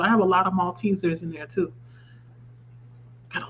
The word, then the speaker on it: Maltesers: Maltesers. Okay. Cuz I wasn't sure. It was like cuz it's spelled M A L T A.